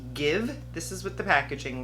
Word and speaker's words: Gxve: I picked up the liquid lipstick, and I believe the brand is pronounced Gxve.